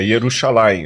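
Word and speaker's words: ירושלים: essa a a pronúncia hebraico não tem som de G não t g não J nem J é yeral não é é yerushalaim o J é é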